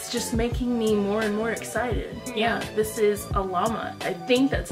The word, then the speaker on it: Alamat: Yeah, this is Alamat. I think that's how you say it. Please don't come for me if it's wrong. I'm just thinking Salamat and oh, yeah. Without the S.